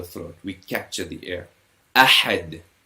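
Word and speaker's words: أحد: Ahad, we pronounce with a bit more emphasis. Ahad.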